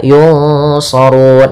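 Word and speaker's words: يُنصَرُونَ: Yunsarun ikhfa, nunnya samarkan kepada huruf fa, ke huruf shad dan ditahan. Yunsarun.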